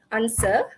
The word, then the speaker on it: answer: Silent W, answer, sort.